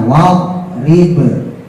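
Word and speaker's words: واضرب: Contoh lagi do misalnya wad rib dibacanya wadrib lahu. Ibu-ibu yasinan itu loh ya. Wadrib. Padahal tulisannya wad rib pakai do bukan dal. Cuman karena otaknya ngerekamnya pakai dal, akhirnya dipanturin. Wadribahum.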